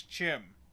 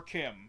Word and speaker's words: CHIM: And it's it's it's Chim or Kim. Some people say Kim, some people say Chim.